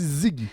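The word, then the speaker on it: Siggi: Oui, Ziggy, hein? Ah, c'est Ziggy? Oui, pour Siegfried. C'est le petit nom de Siegfried Kracauer. S-I-G-G-I. Oui. Fait qu'on dit Ziggy. Ben, vous pouvez le prononcer à l'italienne.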